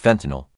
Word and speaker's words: fentanyl: Instead of actually giving people nutrition meals, okay, I'm gonna be putting peroxide, chlorine, fentanyl, however you say it, in their food, and they about to go bye-bye. It's pronounced fentanyl.